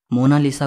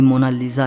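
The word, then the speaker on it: Monna Lisa: सही स्पेलिंग यह है कोई इसे मोना लिसा कहता है तो कोई मोना लीजा कहता है लेकिन इटालियन में इसकी करेक्ट प्रनंसीएशन है मोनालीसा इसका मतलब होता है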